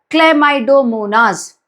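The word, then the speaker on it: Chlamydomonas: इसको बोलते हैं बेटा क्लेमाइडोमोनास। क्या बोलते हैं? क्लेमाइडोमोनास। ऐसे याद करो। Break the spelling and then remember कभी याद नहीं होगा।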